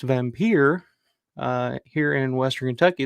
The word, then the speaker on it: Wampyr: It's pronounced Vampire. Here in Western Kentucky, it's called Wampyr, um, and it's almost a completely different film.